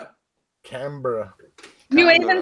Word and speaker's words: Canberra: It's Canberra. No. Canberra.